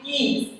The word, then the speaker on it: Gies: It's actually geese.